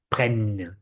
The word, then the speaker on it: prennent: So you say ils prennent, but you have a double N, so you can insist prennent, ils prennent, okay?